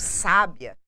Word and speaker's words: sábia: se pronuncia a palavra esses exemplos aqui para vocês da questão do sabiá do sabia e do sábia traz para vocês uma mesma palavra quando nós temos uma variação do assento gráfico de posição e